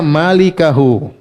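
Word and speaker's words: مالكه: Kalau begitu, illa ini harusnya sama dengan ini, Berarti mulkahu ini bacanya malikahu. Pemilik wajah, yaitu huwa, paham? Tapi kalau kita baca mulkahu berarti salah baca, karena dalam kitab Ma'mar bin Musanna illa huwa, paham?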